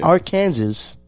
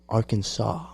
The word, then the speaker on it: Arkansas: city now he's residing in the south side arkansas wow damn i'm gonna let them guess which statement let me stop but yeah he's in arkansas yeah our kansas arkansas arkansas get it right get it right yep